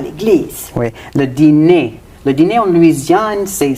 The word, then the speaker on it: dîner: Ça arrive quand un occlusif comme un d ou t rencontre un son de voyelle comme i ou u, comme dans les mots dire ou Dire.